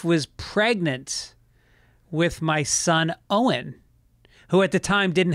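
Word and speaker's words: Eoghan: And one of the names we heard was Owen. And in Gaelic, it's spelled crazy. It's like O-I-G-H-A-N or something.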